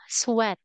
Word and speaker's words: sweat: However, there is only one word that you mispronounce. Okay. This is what we call sweat. Sweat. Sweat. Very good.